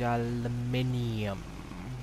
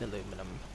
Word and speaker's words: aluminium: got we got special I need aluminium why am I not surprised I need aluminum yes I did pronounce it both ways so no one will